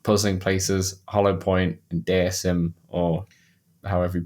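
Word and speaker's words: Deisim: Places, Hollow Point, and Dism or however you pronounce it. Yeah, Deism. D E I S I M. Got it. Got it. Got it. Uh, under 20 like a deity simulation.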